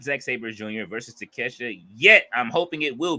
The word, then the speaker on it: Takeshita: Fletcher says Takeshita not take a shitter.